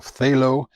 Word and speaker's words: phthalo: is cerulean blue or i never know how to pronounce this but it's p-t-h-a-l-o so phthalo phthalo blue either one